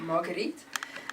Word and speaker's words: Marguerite: So in Afrikaans, obviously my name is Marguerite. The right way to pronounce this is Marguerite.